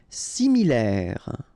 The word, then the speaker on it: similaire: Similaire. So final E not pronounced.